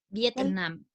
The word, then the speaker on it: Vietnam: Vietnam. Yes, it's the same. Súper bien, ¿cierto? Ahí cargamos la voz en la última sílaba.